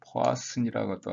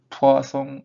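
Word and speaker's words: Poisson: 포아슨이라고도 하고 영어로 되는 건데 프랑스 사람인가요? 그래서 발음은 포아송 이케이션 믿고 그래갖고, 그러면 어떤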